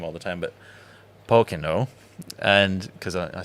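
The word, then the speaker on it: Pokeno: all the time, but Pocono, and because I said it wrong on social media. No, and they yes. And I've been corrected, so I need to elongate my O.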